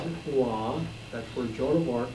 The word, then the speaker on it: Rouen: Well, Rouen, they pronounce it Rouen, that's where Joan of Arc was burned at